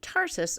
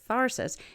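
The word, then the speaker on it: Tharsis: the western portion of the Tarsus or tharsus it's spelled t-h-a-r-s-i-s volcanic Province the molten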